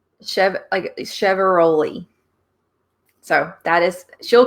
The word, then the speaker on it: Chiavaroli: So she said it's like Chevaroli.